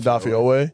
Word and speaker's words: Odafe Oweh: Odafe Oweh.